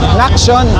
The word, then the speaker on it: Naction: Tapos paano pinopronounce yung Nation? Naction.